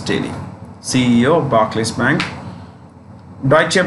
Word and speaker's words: Deutsche: Deutsche Bank, pronounced Deutsche. What is it? Deutsche or Deutsche. Don't say douche. Because that's how I used to pronounce before I got to know it's Deutsche, which is German.